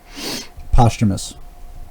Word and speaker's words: posthumous: no end and that's a posthumous release okay posthumous is that how it's pronounced yes okay don't ask me to pronounce